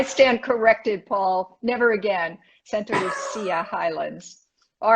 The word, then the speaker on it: Santa Lucia: Spanish named it, not the Italians. Okay, so stop pronouncing it with that Italian CH after the C. Okay, I stand corrected, Paul. Never again. Santa Lucia Highlands.